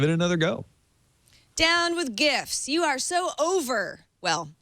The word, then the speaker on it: GIF: websites just ahead of GIF with 62.3 GIF was leading by more than 15% a year ago and yes that's how you say it gif thank you for that